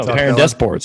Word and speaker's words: Perrin DesPortes: No, Perrin DesPortes.